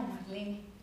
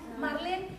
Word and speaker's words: Marlene: Es alemán. Sí se pronuncia la E.